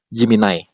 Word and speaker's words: Gemini: Dibacanya Jiminai. Nah, tulisannya Gemini.